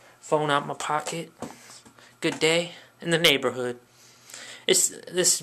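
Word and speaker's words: Dey: Good day in the neighborhood. This has been your friend on YouTube, on YouTube, which you're watching right now. Day, like T-H-E-Y, but it's spelled D-E-Y, no, Day no, and I'm out.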